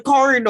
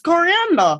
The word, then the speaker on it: coriander: and he said Corridor and it's not it's coriander yeah coriander yeah the spices